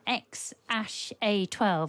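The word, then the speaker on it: X Æ A-12: Elon Musk's 4-year-old son, Ash A12, I think his name is pronounced, although it's written a load of squiggles.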